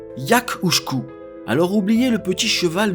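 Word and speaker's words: each-uisge: en ce moment bah ça se prononce en géque yakouku alors oubliez le petit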